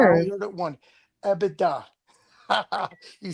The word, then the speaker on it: EBITDA: EBITDA. You said EBITDA or something different. Most people mispronounce EBITDA anyways, right?